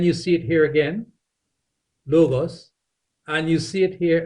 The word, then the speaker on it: logos: few of these words like that one there l o g o s logos and then you see it here again logos and you see it here again logos and